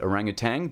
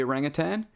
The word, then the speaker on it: orangutan: orangutan was first described, they did include that G on the end, orangutang, because it was mispronounced uh when they were describing the orangutan. Uh but still we know better now. So it's orangutan rather than orangutang.